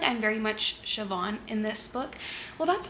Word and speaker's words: Siobhan: like I'm very much sioban in this book well that's what her name her name is spelled s i o b h a n I think that's Siobhan right very much resonate with